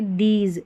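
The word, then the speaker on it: these: और यहाँ पर देखिए दीज, ये दीज है ना, यहाँ पर ई को ई पढ़ा गया, लास्ट में जो ई है ना दीज में, ये साइलेंट, ये मैजिक ई है हमारा, साइलेंट रहता है, ये जादू दिखाता है एक तरीके से।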